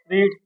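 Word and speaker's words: read: है क्या होती है रीड रेड रेड but spelling same लिखी जाती थोड़ा बोलने में बदलाव कर लेंगे जिससे कि पहचान हो जाए हमारी क्या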